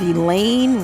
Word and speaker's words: Elaine: this isn't over but elaine rhymes with pain he wants it to